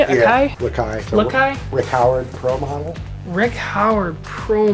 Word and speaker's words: Lakai: Some Akais. Is that how you say it? Akai? Yeah. Lakai.